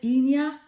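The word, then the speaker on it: Hina: You have the goddess Ina. Her name is spelled H-I-N-A.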